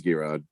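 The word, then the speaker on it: Geirrod: you've gotten it oh gerard how do you spell it no it's not euron no it's not uh it is it is g-rod is it euron you've been saying it all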